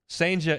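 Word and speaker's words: Cijntje: and you're like well how do you spell Sanja well it's not the way you think you would spell it Sanja is spelled c-i-j-n-t-j-e c i j m t j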